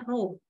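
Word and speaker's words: ρ: melayangnya ya Nah ini teman-teman bacanya ro Nah jadi ro = m/pki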